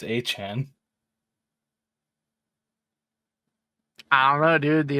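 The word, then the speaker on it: Achane: I'm very sure that it's Akane. Yeah, Devon Akane. No, it's Achan. It's pronounced Akane. Dude, I'm looking at the pronunciation. It's Achan.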